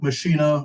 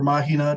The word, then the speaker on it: Machina: They had a garage called Machina or Mahina, depending on who you ask for the pronunciation.